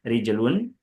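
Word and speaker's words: رِجْل: Rijel dengan dikasrkan rnya dan disukunkan jimnya. Rijlun itu maknanya kaki. Maka tidak ee atau jangan salah melafalkannya.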